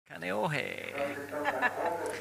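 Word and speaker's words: Kāneʻohe: And he's from Kaneohe on Oahu. Finally, I get that pronunciation. Kaneohe.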